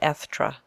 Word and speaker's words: Estra: nodded affably to each you may call me estra said he pronouncing it ethra there is no occupation